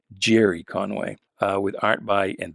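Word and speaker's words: Gerry Conway: conway i should say gary's how i pronounced it when i was a kid but uh it's only within the last year or so i i realized i've been pronouncing that my whole life the wrong way it's actually jerry conway uh with art by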